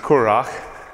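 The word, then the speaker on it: currach: The word is pronounced Curach, and it's an Irish boat.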